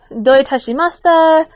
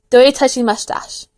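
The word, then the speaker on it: どういたしまして: So my dad broke it down, like, don't touch my mustache. Doi tashimashita. Can you hear it now?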